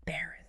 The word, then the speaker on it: Berenstain: Berenstain. stain, like a coffee stain, just one letter.